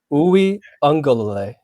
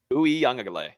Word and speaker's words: Uiagalelei: Give us a pronunciation guide. Break it down for us. Uiagalelei. Uiagalelei.